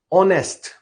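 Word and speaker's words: honest: इसमें एक चीज आप देखिए ऑनेस्ट ओ वर्ड आता है। प्रोनाउंस क्या हो रहा है वो? ओ।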